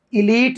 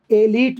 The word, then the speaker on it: elite: ऐसे ELITE, इसको इलीट भी कहते हैं और इसको एलीट भी कहते हैं।